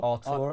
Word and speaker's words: Arthur: watching It's not Arthur. fully pronounced like Arthur, is it? It's like Arthur. Artur, I think. Artur.